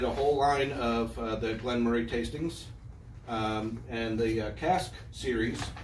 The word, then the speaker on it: Glen Moray: and from elgin and the discussion also is glenn moray glenn murray we're not scottish uh from scotland so they they pronounce it glenn murray okay but when i say elgin mori scotland